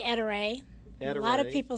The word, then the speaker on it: Ettore: name of the company how do most people pronounce it we say Etta Ray a lot of people say etori or etor the English pronunciations well the important